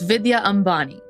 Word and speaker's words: Vidya Ambani: miss Vidya M Bonnie did I pronounce that name right correctly first and foremost pretty close Vidya Ambani so yeah you got it yes okay Vidya M Bonnie perfect and Noob correct me